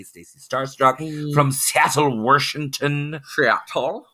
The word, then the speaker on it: Washington: There's no R in Washington. Washington.